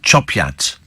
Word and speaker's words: Chop Gate: Steve Yorkshire Place Nam chop gate pronounced chopat that's how it's pronounced why does that I'm